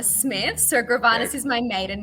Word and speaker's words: Gravanis: and foremost let's jump in how do i pronounce the the so full name is gravana smith so gravanas is my maiden name and then when we